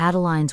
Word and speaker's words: Adeline: I'm looking forward to adeline's wedding tomorrow Mary Lou giggled I used to call her sideline only in my mind but she's no longer on the sidelines get it Adeline rhymes with sideline Magnolia nodded it was